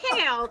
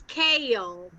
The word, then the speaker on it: kale: Not kale, it's kale. Kale. Two-syllable word, kale.